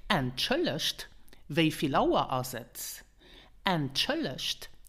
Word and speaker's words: Entschuldigt: To ask more politely, you could say, Entschuldigt. Wieviel Uhr ist es? Entschuldigt, wieviel Uhr ist es? Entschuldigt means excuse me. And pronounce it entschuldigt with the T at the end because this is the